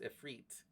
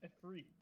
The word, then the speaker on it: Ifrit: Technically, the mythological creature that is derived from would be pronounced Ifrit. Ooh, so it's Ifrit. Like feet.